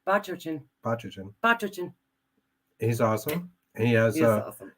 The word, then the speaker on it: Bachochin: We have Jay Bachochin. Now, you know what? You asked me to say it properly, and now I screwed it up. I think you did it right. Bachochin.